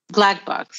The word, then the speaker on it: BLCK: she's a project manager do you pronounce it black be or no it's it's called black box black box okay because the the logo is just blck um and this is